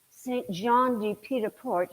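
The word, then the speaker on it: Saint-Jean-Pied-de-Port: good point he said well where's Paris from Saint John D petaport is how you say it it's 500 miles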